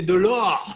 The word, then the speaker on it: Delour: Alors déjà, Delour, ça se prononce comme ça. Ben, en fait, non. C'est de l'or, de l'or.